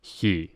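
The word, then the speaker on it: Χ: He. That's how you say it in Greek is he. It makes the H sound.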